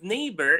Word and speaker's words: neighbor: Even the word neighbor has a gh that's not pronounced anymore, but it's there in writing.